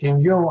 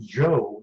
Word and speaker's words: yo: In yo, I've heard it pronounced Joe instead of yo.